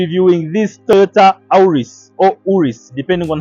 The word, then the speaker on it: Auris: Okay so have just confirmed that the pronunciation is Aus and this car is